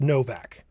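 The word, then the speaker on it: Nowak: I don't know if it's pronounced Novak or Noac because it's spelled with a W, but it could be he could be, you know, Eastern European. And that was uh if I'm not mist mistaken, it was said that he's of Polish descent. Yep. Fully white would be pronounced Novak.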